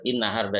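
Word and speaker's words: النهارده: Inna harda itu asalnya adalah hazan nahar. Hazan nahar, haknya dibuang. Zal dalam amiyah masri itu berubah menjadi dal, lalu dibalik. Inna harda.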